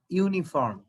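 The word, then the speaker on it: uniform: আচ্ছা, আবার আমি যদি বলি ইউনিফর্ম, এখানে ইউর উচ্চারণ ইউর মতো না? ইউনিফর্ম, দেখো ইউর মতো, আর এটার উচ্চারণ আর মতো। যদি এটা আর মতো উচ্চারণ হয় তাহলে সেক্ষেত্রে তখন যে এন বসে, আর ইউর উচ্চারণ যদি ইউর মতো হয় তখন সেটার ক্ষেত্রে যে এ বসে।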